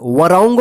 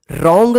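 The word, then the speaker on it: wrong: पढ़ेंगे देखिए यहां पे डब्ल्यू आर ओ एन जी रंग वरंग मत पढ़िए ठीक है ना रॉन्ग का मतलब होता है गलत देखिए यहां पे डब्लू जो है ना साइलेंट रहता है ठीक है ना रॉन्ग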